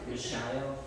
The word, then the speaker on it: Mishael: Mishael.